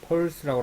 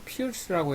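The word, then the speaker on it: Peirce: 원래 펄스라고 하는데 이 펄스라고 하다가 이 발음이 펄스라고 하는 게 아니고 피어스라고 해야 됩니다 하고 이제 누가 반론을 제기해 가지고 피어스라고 이렇게 써요.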